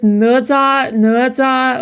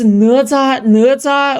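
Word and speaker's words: Ne Zha: It's Neza, okay? Like, oh my god, she's not even pronouncing.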